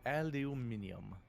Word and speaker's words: aluminium: It's sort of like how British people pronounce aluminum wrong. They probably pronounce antimatter wrong too. Aluminium. Like an asshole.